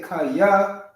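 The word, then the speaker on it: חיה: Kaya, and then the ha is silent.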